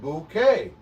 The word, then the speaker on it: Bouquet: He says, no, bouquet is said bouquet. B-U-C-K is bucket.